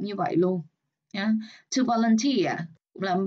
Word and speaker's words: volunteer: Volunteer. Rồi cái gì đó ear đằng sau rồi mình phải là nhấn vào cái âm đó luôn. Volunteer nhấn âm 3, voluntary nhấn âm 1, voluntarily âm 1 luôn.